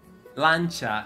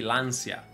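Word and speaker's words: Lancia: the chat thank you lancha is how you say lancha most people say lania yeah no such thing as l the proper word is lancha why is that lancha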